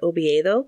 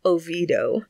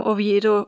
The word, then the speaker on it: Oviedo: Also, there's a town in Florida named for Oviedo, which is the capital of Asturias, but they pronounce it Oviedo. And apparently there's a movement to try and get people to pronounce it correctly, which I support.